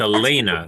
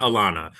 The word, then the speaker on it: Elena: Um, also I owe you an apology because I was mispronouncing your name earlier because it's it's Elena, not Alana.